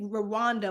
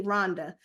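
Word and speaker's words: Rwanda: anything about East Africa or or people say Randa but it's actually pronounced correctly Rhonda if you don't know anything about Rhonda it's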